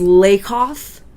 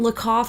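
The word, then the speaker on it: Lakoff: never pronounce anyone's name I believe it is lakov not look off I think it's lakov um lay coughs metaphors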